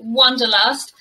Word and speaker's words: wanderlust: i really like it it's probably pronounced completely differently in german but in english we call it wonderlust and let's have a